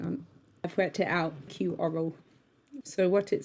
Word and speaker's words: iQoro: I'm going to have to work out how to pronounce that. Hang on. I've worked it out. iQoro.